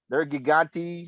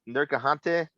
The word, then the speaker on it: Nergigante: Nergigante, not Nergahante.